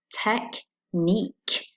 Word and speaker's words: technique: It's the same with the word technique, technique. The QUE just sounds like a K.